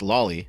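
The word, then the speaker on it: Lawly: yes that's spelled l a WL Y and pronounced Loi which is frankly fitting for what we're about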